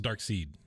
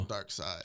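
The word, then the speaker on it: Darkseid: how you say it I thought it was dark seed dark side is it yeah isn't it spelled like seed like German version no I mean there's no LOF WAFF no no no there's no there's no e on the end but it's still dark side oh okay all right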